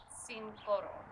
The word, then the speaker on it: Cincoro: Yeah, Cincoro. So, and I was seeing it, the translation is right on the bottle. It's 5 gold, so cinco oro.